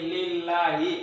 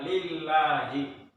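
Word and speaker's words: لله: Ya, contoh yang lain adalah ilallahi. Bukan ilallahi ya, tapi bukan ilallahi. Tapi lillahi ya, lillahi. Oh, lillahi. Ini alif lam jalalah. Ini kasroh. Dibacanya ada L-nya, lillahi.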